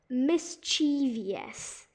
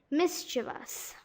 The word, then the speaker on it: mischievous: Now, you have to admit, you always thought that this word has 4 syllables, when it really only has 3. So you might have been saying, mind you, that mischievous, but it's supposed to be mischievous.